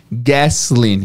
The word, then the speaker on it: gasoline: Gasolina, em inglês, gasoline, com som de S também.